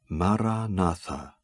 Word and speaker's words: Maranatha: And I suggest that you articulate it in your mind, silently, with equal stress on each of the 4 syllables. Maranatha.